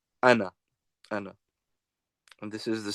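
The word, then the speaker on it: أنا: Interesting to note that the alif over here in ana is merely a feature of orthography. That is to say, it is not pronounced. It is never pronounced. Okay, the alif is not pronounced. It is just pronounced as if you were saying ana, but it is written.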